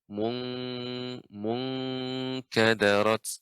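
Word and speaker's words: انكَدَرَتْ: Wa idzan nujumun munkadarat ya, di sini juga ikhfa ya pada huruf kaf, jadinya. Munkadarat.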